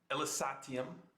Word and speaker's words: Elysatium: Elysatium.